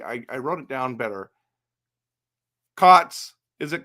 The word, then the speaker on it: Cootes: Okay, let's talk about Coates. Is it Coyotes? Let me just see. I wrote it down better. Cots. Is it Cots?